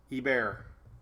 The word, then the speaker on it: Hebert: that warm up kristen i know how to say it it's he bear i have a friend named kevin he bear i just say hebert hey what's up lindsay